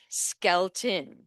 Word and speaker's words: Skelton: Skelton, Red Skelton.